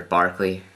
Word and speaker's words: Berkeley: what George Barkley argued UC Berkeley was named after Barkley which should tell you how we should be pronouncing Berkeley with anyway so yes I